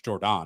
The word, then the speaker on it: Jordon: There's an O. There's not an A at the end. So, it's Jordan, not Jordan.